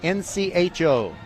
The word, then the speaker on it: Ncho: He's a guy who needs to buy a vowel, as Pat Sajak would say. His last name is spelled N-C-H-O. Ncho.